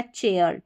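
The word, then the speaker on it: chair: अब यहां पर सी एच को च पढ़ रहे हैं। तो यह बन गया चेयर। चेयर चेयर।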